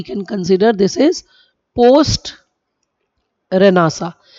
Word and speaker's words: Renaissance: Okay, so enlightenment is what we can consider this is post रेनासा. हम रेनासा उसको pronounce करते हैं, रेनेसांस लिखते हैं.